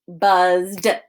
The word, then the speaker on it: buzzed: throat vibrate we um when we add ed to the end of those words it just has a d sound so like buzzed spelled but although we